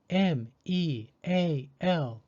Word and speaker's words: meal: Meal is spelled M-E-A-L. Because E and A are both vowels, the second vowel, A, is silent, and the first vowel, E, takes the long E sound.